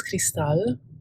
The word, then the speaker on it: Cristal: name um it is cristal so basically just imagine the a-l at the end of it as an owl so like um al